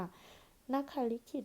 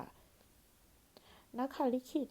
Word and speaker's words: นขลิขิต: เล็บ นั่น เอง ค่ะ นัก ขลิขิต นะ คะ สะกด น หนู ข ไข่ ลลิง สระ อิ แล้ว ก็ ขข สริ ต เต่า ค่ะ นักขา ลิขิต นะ คะ หรือ วง เล็บ นะ